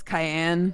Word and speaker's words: Cayenne: why not you say your name is cayenne yes it is pronounced like it's the pepper I don't see that